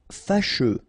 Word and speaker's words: fâcheux: Fâcheux. So final X not pronounced, and then you get your combination of U, E. Fâcheux.